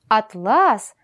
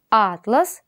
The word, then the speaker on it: атлас: связано разное значение слов Атлас и атлас это связано с различием ударных звуков А в первом слове ударение падает на первый звук а во втором на второй значит чтобы осознать и